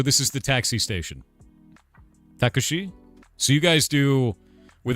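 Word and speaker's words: タクシー: Takushi. So you guys do with us we do taxi as two syllables. You do takushi and she's uh she has like a drawn out eye. So it's takushi.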